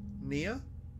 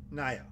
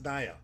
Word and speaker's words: Naya: Nia? Naya. That's Naya. That's Naya. It's not Nia. That's Naya. Because I know it from wrestling. Nia Jax. It was spelled like that. So it's Naya.